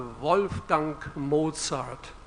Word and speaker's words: Wolfgang Mozart: I'm from Germany so now you will hear the proper German pronunciation of a wolf dunk Mozart Wolfgang Mozart he once